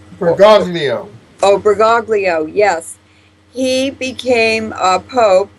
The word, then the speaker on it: Bergoglio: But how do you pronounce his last name? Bergoglio. Bergoglio. Oh, Bergoglio, yes.